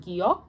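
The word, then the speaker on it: 기역: It is called the giok, and it sounds like g, g.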